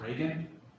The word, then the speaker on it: Reagan: Our next speaker is, is it Reagan? Yes, spelled like the president.